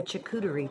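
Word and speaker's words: charcuterie: it's kind of it's kind of um a chakutari tray hey i said it right never say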